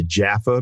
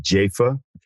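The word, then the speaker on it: Jafa: I used to call him Arthur Jaffa, but apparently he now pronounces it Jaffa.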